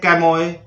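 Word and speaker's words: chamois: इसको बोलते हैं कैमोए, कैमोए।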